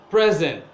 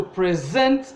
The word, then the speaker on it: present: such as present present if you say someone is presenting class they are using the word as an adjective and the stress is on the first syllable present oh you are saying someone is going to present a paper that is a where the stress is on the second syllable if you say someone